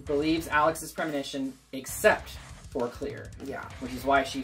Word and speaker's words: Clear: then decides to just clear not CLA I swear to Christ I've always heard pronounced CLA and then in the credits it's clear c l e a r clear yep clear River that's her [